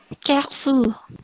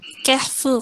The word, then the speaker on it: Carrefour: ada Carrefour, itu bacanya gimana ya Madam? Carrefour. Carrefour.